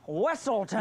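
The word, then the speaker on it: Weselton: Yeah, Weaselton. It's pronounced Wesselton.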